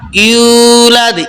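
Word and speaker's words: يُولَدْ: পড়বো লাম ইয়ালিদ ওয়ালাম ইউলাদ ইউ এক আলিফ টান হবে কেন এক আলিফ টান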